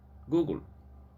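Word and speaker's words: googol: name to google after a mathematical term which sounds just like google but it is spelled g o o g o l google however the company itself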